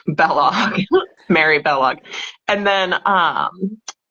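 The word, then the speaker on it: Balogh: Uh, Debbie said rhymes with Kellogg. So now we all know how to say Bellog.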